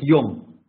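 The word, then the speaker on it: יום: Как пишется э например звук йо есть такой звук йо неврите но он пишется двумя значками Вот пример пишется буквы юд и значок О получается ИО читается как йом йом йом - это день йом то йом тоже в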